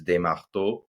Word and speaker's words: Desmarteaux: So if you're gonna say it like it's a French name, so if you say it French is Desmarteaux, but Okay?